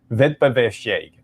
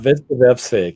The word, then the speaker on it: Wettbewerbsfähig: It's an S, not a sh. It's a C sound. Wettbewerbsfähig. Okay. All right. Wettbewerbsfähig.